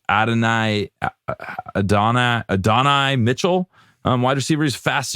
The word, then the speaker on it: Adonai: I don't know how to pronounce his first name. It's Adonai Mitchell, wide receiver.